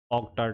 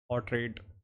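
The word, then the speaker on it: Oughtred: तो ये किया था विलियम ऑक्टार्ड ने। ऑर्ट्रेड, ऑर्ट्रेड बोलते हैं भाई, जो भी हो इसकी प्रोनाउंसिएशन, विलियम ऑर्ट्रेड।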